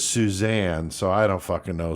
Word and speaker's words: Suzan: So Michael Bear Carson and Suzan with a Z. Susan is her name, but she puts the Z in there. And they pronounce it as Suzanne, so I don't fucking know. Suzanne Carson, their insane view on